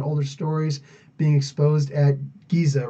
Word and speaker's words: Giza: Far larger and older stories being exposed at Giza right now. Well, just the idea they changed the language. It's actually supposed to be pronounced Giza, but the Egyptian Arabic, they pronounce G instead of J. So, Giza.